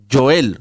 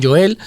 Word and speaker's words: Joel: Yo, como en mi Biblia sale con J, yo lo pronuncio Joel. ¿Verdad? No creo que, no sé si lo llamarían así en su época, o Joel o Joel. Los judíos suelen pronunciar mucho la J, son de... Sí, pronuncian Baraj Adonai, son de pronunciar la J, hacer énfasis en la J, así que yo creo que sería el profeta Joel, con esa J bien marcada, bien pronunciada.